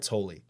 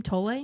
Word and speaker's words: Tolle: Tolle? Tolle, yeah.